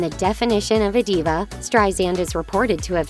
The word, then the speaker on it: Streisand: You said it with a Z. You had a double whammy." Usher then made sure he pronounced the second S in her surname in a softer manner before Streisand sarcastically responded, "That's it.